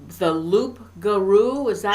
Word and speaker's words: loup-garou: It's the loup-garou, is that how you pronounce it?